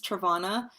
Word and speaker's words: Travana: you I don't know my name is travana um which is a hard name for some it rhymes with piranha and Nirvana if that's helpful for you and